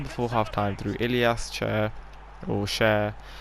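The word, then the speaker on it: Ilias Chair: before half time through Ilyas Cher, I believe is how you actually pronounce it, because he is Moroccan and not English, so we don't just say it how it's spelled.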